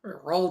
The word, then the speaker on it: Roald: Roald Dahl, yeah. It's like Ronald minus the N.